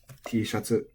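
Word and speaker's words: Tシャツ: T-shatsu, I believe, is accented on the sha. Let me make sure. Ooh, I was wrong. Okay. This word is flat. T-shatsu.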